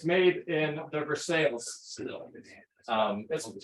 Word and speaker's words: Versailles: it's made in the Versailles um it's spelled for sign but the locals say for sale dude yes exactly um